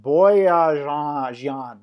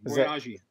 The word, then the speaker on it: Boyajian: Boyajian is the easy pronunciation. Boyajian.